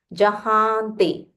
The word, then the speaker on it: Jahante: Again, ha. Use a nasal ha. Jahante.